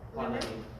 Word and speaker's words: clonidine: Clonidine. Remember in pharmacy, we don't say "ein." The Americans pronounce it as "ein." Diphenhydramine, not mine.